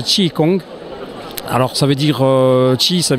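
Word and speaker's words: Qi Gong: difficile à prononcer voilà bonjour alors si se prononce ti Kong alors ça veut direi ça veut dire souffle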